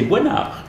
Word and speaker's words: Boisnard: Parce qu'on m'a dit qu'on prononçait pas votre S. C'est ça. Parce qu'il y a Dominique Besnéard, il y a un S, on le prononce, mais moi, on m'a averti, on m'a dit non, c'est Boinard.